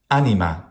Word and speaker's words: anima: Anima.